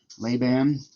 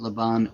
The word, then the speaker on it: Laban: Also, it completely forgets about the part that lab, by the way, the pronunciation of what did he say? Leban like nails on the chalkboard. Um, but the but the the idea that Laban he's completely forgetting the